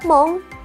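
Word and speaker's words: 門: Cara bacanya adalah mong dan pintu gerbang dalam bahasa Jepang adalah kado. Kado pendek ya, kado. Oke. Dan aku udah tulisin juga kosakata-kosakata berkaitan dengan kanji ini. Yang pertama ada mong.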